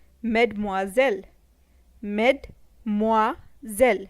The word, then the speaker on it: Mademoiselle: pronounced as Madame Madame miss in French is pronounced as met more zel Mademoiselle met more zell Mademoiselle ladies and gentlemen is a common expression used